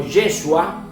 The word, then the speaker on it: Yeshua: jesús la palabra jesús el nombre jesús originalmente se pronuncia como yeshua que significa josué no